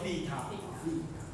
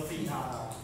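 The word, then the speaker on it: β: 这个符号，贝塔，这念作贝塔，贝塔，这样可以吗？这念作贝塔。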